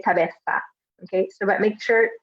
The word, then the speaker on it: cabeza: it is in English you can either pronounce it like a light s sound which is how I